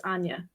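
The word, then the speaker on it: Áine: And then, you know, in my younger years, I could never figure out how a I N E was Anya.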